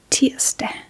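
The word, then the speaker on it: tirsdag: And next we have Tieste Ti named after the Nordic god T which was a war god in Nordic mythology.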